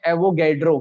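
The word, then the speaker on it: Avogadro: एवोगैड्रो।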